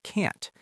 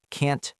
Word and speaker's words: can't: But we don't usually hit that strong T sound at the end of the word. We don't say can't make it. Right, the T sound almost stops in our throat.